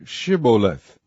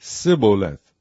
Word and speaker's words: Shibboleth: If he said, Nay, then said they unto him, Say Shibboleth. And he said, Sibboleth, for he could not frame to pronounce it right.